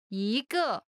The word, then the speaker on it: 一个: 一个 One of something 一个一个 Pronunciation note. When 一 is followed by a fourth tone, it changes from the first tone to the second tone.